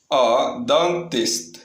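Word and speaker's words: dentiste: Next one நம்ம பார்க்க போகிறது dentist. dentist. dentist. dentist. இந்த இடத்துல ஈயை எப்பயுமே ஓ மாதிரி ப்ரொனவுன்ஸ் பண்ணும். ஆக்கும் ஓக்கும் நடுவில் ப்ரொனவுன்ஸ் பண்ணால் எப்படி ப்ரொனவுன்ஸ் பண்ணணும் அப்படி சொல்லணும்.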